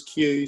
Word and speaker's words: Hugh: There are certain places in Northern Ireland where people do pronounce Hugh as Q, so that was quite an apt comment. My name's Hugh.